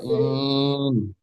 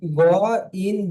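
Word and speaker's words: غين: হ্যাঁ গন ওখানে গইন গলে ছাড়বেন না ডাইরেক্ট ধরে নেবেন গাইন গাইন মাশাল্লাহ গাইনটি কি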